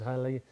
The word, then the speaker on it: Halley: The Comet was discovered by Edmund Halley, and it's actually, you pronounce it Halley apparently.